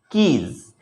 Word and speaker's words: quays: Its pronunciation is quays.